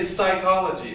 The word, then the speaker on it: psychology: word in english yeah we don't pronounce the p do we we just say psychology but the greeks would